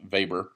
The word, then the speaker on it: Weber: Max vber uh even though it looks like Weber it's pronounced vber and uh he had lots of of things